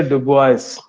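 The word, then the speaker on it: Dubois: यह बहुत पूछता है एबे ड बय एबे डब इनका नाम है साइलेंट रहता है फ्रेंच आदमी थे अबे अब बॉय इसका नाम यही है अबे ड बय लेकिन एस भी लगता है एस बोला नहीं जाता एड बॉय इनके अनुसार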